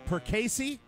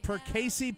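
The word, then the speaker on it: Perkasie: the pronunciation right but it seems to be perey that's how I would say it yes perey Pennsylvania p e r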